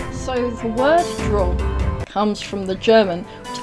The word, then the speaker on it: Drau: So the word Drau comes from the German, which I think is more pronounced Drau. I apologise to anyone who is German if that is not how it's pronounced.